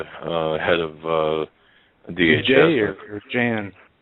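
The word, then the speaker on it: Jeh: do you expect from Jay Johnson you know the uh head of uh DHS Jan is it J Johnson or it's j it's it's je eh but I think he pronounces it J it doesn't yeah we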